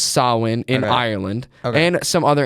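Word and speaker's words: Samhain: So average American would look that be like sain s but it's pronounced sawin in Ireland and some other ancient festivals too.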